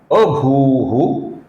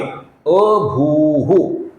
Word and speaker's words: अभूः: और ये जो विसर्ग है इसके आगे अभूः ये नाम आया हुआ है, जिसका जो भू है ये दीर्घ है दोस्तों, ये अभू नहीं है, ये अभू है।